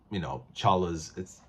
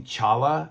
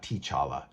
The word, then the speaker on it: T'Challa: And I'm really glad that he was able to resolve and finish Chala's, by the way, it's supposed to be Chala. The T is silent for those of you who don't know, not T'Challa, Chala.